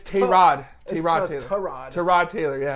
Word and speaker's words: Tyrod: No, we were saying his name wrong apparently because he came out to the press. Yeah, that's so weird. It's Tyrod.